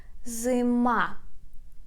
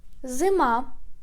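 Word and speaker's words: зима: the ma ma pay attention that we put stress on the last syllable on i and we say zimma zuma zuma the next one spring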